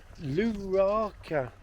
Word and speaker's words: Luarca: Luarca, pronounced perfectly, in northern Spain.